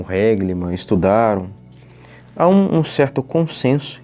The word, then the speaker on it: Règlement: basta ler o seu reglim". Existem algumas pessoas que pronunciam reglimanã.